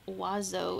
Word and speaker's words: oiseau: Must always mention how Oiseau is pronounced wazo in my stupid language.